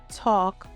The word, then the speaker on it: talk: Silent L appears in words like walk, talk, calm, and half. There is no L sound here.